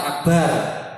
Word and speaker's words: akbar: Nomor 4, menggunakan lafaz akbar, namanya takbiratul ihram. Nomor 5, urut atau tertib, ya, di antara dua lafaz dalam pengucapan Allahu Akbar.